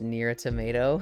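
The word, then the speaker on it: NieR:Automata: Violet, it is pronounced near a tomato.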